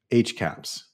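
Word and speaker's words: HCAHPS: ago introduced something called hospital caps and caps is spelt c-a-h-p-s and it's usually termed h-caps hospital caps so you most most people say h-caps so h-caps is like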